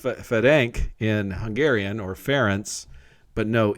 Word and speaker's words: Ference: r e n c there's no e it's a hungarian name so it's actually pronounced pronounced fedank in hungarian or ference but no e um